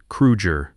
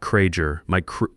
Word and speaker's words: Kruger: You pronounced his name correctly. Kruger, not Krager. Meijer, because he could hear the difference and he would remember.